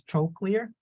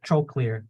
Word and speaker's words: trochlear: the eye and then number four is trochlear okay remember troll clear okay and number five